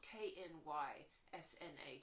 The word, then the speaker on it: Knysna: And someone said, well, if you're looking around at that area, you need to look at the energy of Knysna, which is spelled K-N-Y-S-N-A, Knysna.